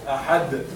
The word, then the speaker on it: أحد: If we are going to find the dal not inside the word, but it is at the end, and we are going to stop because we stop on sakin, in this case, the qalqala would be a little bit stronger.